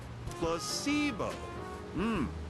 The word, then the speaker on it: placebo: today repeat after me placeo the stress is on the middle Sy very good you're figing